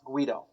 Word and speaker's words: Guido: right yes you know but it's spelled like g-v-i-d-o like the video i mean paul and i were tripping over and saying how do you pronounce this thing well it's guido turns out so what distinguishes